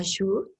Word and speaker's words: Sjoerd: Y bueno, vamos a tener una dinámica porque el día de hoy tenemos como invitado especial a Shur. Bienvenido. Es un poco complicado pronunciar tu apellido, Shur Van Grootjes, creería, Muy pero bueno.